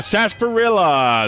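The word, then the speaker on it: Sahasrahla: Sasparilla. Oh, Sasparilla. That's how he's pronounced.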